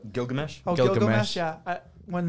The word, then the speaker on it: Gilgamesh: my favorite scene is Miligash. I don't know how to say his name. Gilgamesh.